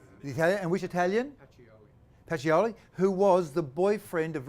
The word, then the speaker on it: Pacioli: How do you pronounce his name? Pacioli. Pacioli.